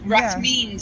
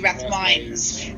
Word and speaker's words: Rathmines: Rathmines is actually Rathmines, and it's but it's like poetry rather than prose.